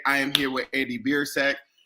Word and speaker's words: Biersack: i'm doing great and i'm impressed that you nailed the pronunciation on the first try there like that is on the last name very very good because